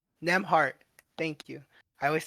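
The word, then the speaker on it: Nembhard: Newmart. You know what I'm talking about, right? Nimhart. I forgot his first name. Nemhart.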